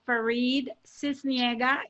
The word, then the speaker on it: Faride Sisniega: You know, again, my name, the way you pronounce it is Faride Sisniega. If you speak Espanol, it's Faride.